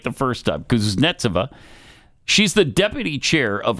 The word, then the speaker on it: Kuznetsova: The most significant development came from Anna Kuznetsova. Oh, I love her. I said it right the first time. Kuznetsova.